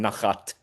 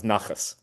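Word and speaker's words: נחת: This is literally nachas. It's the actual word that in the Ashkenazi pronunciation, nachat becomes nachas.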